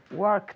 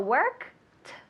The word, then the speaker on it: worked: memory to make yourself eliminate the E and pronounce the T very good so yesterday